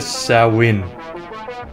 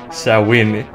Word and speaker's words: Samhain: Hello everyone, my name is and welcome to Sow-win. This is another game by Puppet Combo, which was released for Halloween. Now I think Sow-win, if that's how you pronounce it, is a Gaelic festival